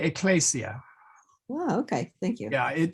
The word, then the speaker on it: ecclesia: in English, ecclesiastical, the S becomes a Z, like as in lose, okay? But in Latin, we shouldn't do that. We should, so it's not, so ecclesiastica, try not to say ecclesiastica. I think everybody will be portrayed at one time or another by sticking a Z in there in that place, but try not to. So J, So we okay. don't say ecclesia. We should say ecclesia.